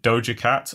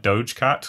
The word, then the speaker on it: Doja Cat: a few days ago, and this pop artist named, you just pronounced it Doja Cat. I thought it was like Doge Cat, like Doge Dog, because I'm an idiot.